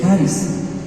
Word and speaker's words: CHARIS: logo de charis bueno se escribe charis y se lee caris caris es la oficina